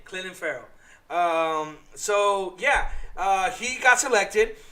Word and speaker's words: Clelin Ferrell: Yes, I said it right. Clelin. You know how he used to say Cleveland? That's his name. Clelin Ferrell.